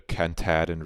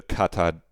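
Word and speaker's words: Katahdin: Passing north through the Cantadon Reed. That's not how you pronounce that word, is it? Passing north through the Catadin.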